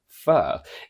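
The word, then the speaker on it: fir: people know is that F I are still pronounced fur is the name of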